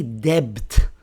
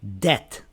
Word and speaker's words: debt: Rule number four is the B is silent before T. For example, right here we have a B before a T. So we don't say debt. We say debt.